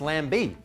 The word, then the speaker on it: Lambie: no no with his incoming Senators uh Jackie lamby and Glenn the brick with eyes Lazarus Oh you mean Lemmy in the bricks ah well no I didn't and it's pronounced Lambie what oh well that changes everything I don't